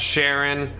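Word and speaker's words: Cheren: deal with it uh that's Sharon I think his name's Sharon that's how I've always pronounced it and that's Bianca I'm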